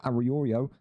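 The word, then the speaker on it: Arroyo: Elijah Aorio, that's how you pronounce it, comes in today.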